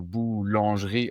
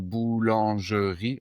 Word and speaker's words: boulangerie: je vais donc toi tu as dit boulangerie, je crois boulangerie en trois syllabes et moi j'aurais plutôt tendance à le dire boulangerie en quatre syllabes."